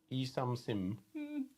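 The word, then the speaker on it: Yi Sun-sin: Yi Sum Sim. That's an N on the end.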